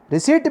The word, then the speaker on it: receipt: It is a receipt means it is a piece of paper, which is identification or acknowledgement. For example, usage I will write, you should clear understanding by student. P is silent.